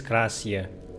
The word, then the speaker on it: Klaasje: I think loading tips actually say how to say her name. Not Klaasje. Klaasje. Okay, her name is Klaasje.